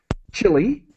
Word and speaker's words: Chile: to be talking about chile is the pronunciation that we use in english chile because we're talking about